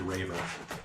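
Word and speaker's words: Reivor: And it's spelled not like a Reaver. It's spelled R-E-I-V-O-R. Technically Raver, but he's R-E-I-V-O.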